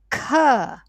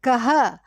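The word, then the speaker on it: ख: But the class 2 will be aspirate. Like you breathe simultaneously while you are enunciating it. While you are pronouncing it, you also breathe. That's why it's called Mahaprana. Kha. Kha. Yeah, sometimes I'm hearing kaha. Okay, that is something else, Yeah, kaha means who.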